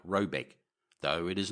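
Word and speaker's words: Råbäck: The manor house or herrgård in question is to be called Rayback, pronounced something like Robeck, though it is not its name.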